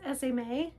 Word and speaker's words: Esme: This is SMA. It's spelled E SM.